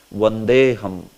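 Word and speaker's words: वन्देऽहम्: But if it is coming in the verse, then you have to say it like this only. Vandeham, Vandeham.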